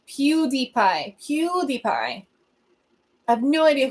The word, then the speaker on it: PewDiePie: yeah that's what I'm saying no idea it's pronounced PewDiePie PewDiePie I have no idea who PewDiePie is